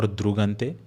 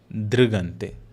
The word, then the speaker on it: drigante: Next word, drigante. Again, not drigante or drugante, drigante.